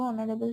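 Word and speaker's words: honourable: এখানে এইচ দিয়ে দেখো অনারেবল শুরু হচ্ছে, এইচ কনসোনেন্ট, কিন্তু উচ্চারণ আমরা অনারেবল বলছি।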